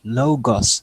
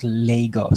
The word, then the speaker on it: Logos: Riley, before you proceed, the commenter's name is Logos, sis, not Legos, sis.